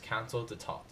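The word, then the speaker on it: Conseil d'État: Next are the administrative courts, which at the top rests the Council of State, pronounced Council d'État, with 8 courts of appeal, Cours administratives d'appel, and 42 tribunaux administratifs.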